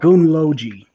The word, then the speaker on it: Gunnlogi: So just how it sounds.